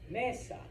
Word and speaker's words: mesa: It's not mesa, it's mesa, mesa, okay?